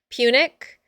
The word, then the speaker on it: Punic: Punic is how I say it, but I might be wrong.